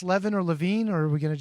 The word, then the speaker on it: Levin: Are you going to mispronounce Levin or Levine, or are we going to just let him see if he wants to correct you? I thought it was Kris Levin. It is Levin. You kept saying Levine, like it was Avril Lavigne or Adam Levine